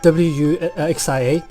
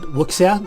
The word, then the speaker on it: wuxia: It's spelled W-U-X-I-A. Some English speakers accidentally call it wuxia or something like that, if you heard of that. But in Chinese you read it as wuxia.